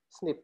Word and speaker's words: SNP: polymorphism atau SNP bye bukan SMP ya bacanya adalah Smith nah ini Jadi snip dipercaya artinya polimorfisme nukleotida